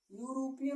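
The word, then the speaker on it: European: और एग्जाम्पल आपको देख सकते हैं जैसे यूरोपियन, यूरोपियन लेडी। अगर मान लीजिए हम इसको कह दें, तो अब यहाँ पर आगे इसका उच्चारण करेंगे तो ये क्या मिलेगा, यूरोपियन।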